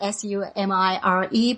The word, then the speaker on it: Sumire: Yeah, because it's spelled Sumire, but we don't have a Japanese, in Japanese, you know, we don't have R or L. So it's almost like D. So, but L sound, Sumire.